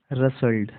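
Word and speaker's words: rustled: टी एल ईडी रसल्ट इसका सही pronounce एशन होगा रसल्ट अब देखिए कई लोग इसको इस तरीके से पढ़ेंगे आर यू एस टी रस्ट lead रस्ट lead जबकि ये रंग है ठीक है यहां पर टी जो है साइलेंट है तो यह होगा रसल्ट इसका सही प्रोनाउंस एशन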